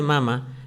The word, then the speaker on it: mama: Si tú al cáncer de mama le pones un acento en la última, va a decir cáncer de mamá, ¿cuál es la relación con tu madre?